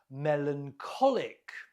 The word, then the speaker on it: melancholic: Melancholic. Melancholic. Note the stress on the co.